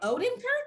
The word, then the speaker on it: Odenkirk: Bob Odenkirk?